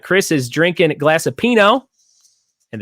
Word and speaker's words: pinot: fancy has arrived Ryan she says and Chris is drinking glass of pinot and the T is silent I've heard about that